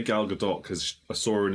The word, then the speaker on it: Gadot: Alicia Silverstone I say galgadot cuz I saw her in an interview once and she was asked how you say her name and that's how she's basically said it she pronounces the T basically um but yeah a